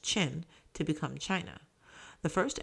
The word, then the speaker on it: Qin: The empire took its name from the Qin, pronounced Qin, to become China.